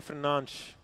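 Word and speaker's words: Fernandes: How do they say Bruno Fernandez? Bruno Fernanch. Correct.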